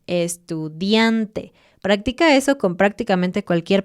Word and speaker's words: estudiante: Cuando no haya nada, siempre pone el énfasis en una sílaba antes del final. Estudiante.